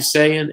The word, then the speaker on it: Tusayan: Tusayan, Arizona.